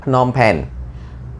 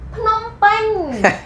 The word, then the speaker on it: Phnom Penh: And you can pronounce it in correct way. Like for example, you're gonna say Battambang. No. What? Battambang. Phnom Penh. Ate, Phnom Penh.